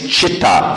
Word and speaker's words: chitta: first word of that prayer is what means chitta CH sometimes they spell it that but c-h-i-t-t-a or C which means